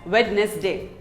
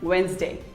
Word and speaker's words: Wednesday: us pronounce wrong wednesday most of us say it as wednesday but it is not wednesday it is actually wednesday say wednesday wednesday who doesn't love pizza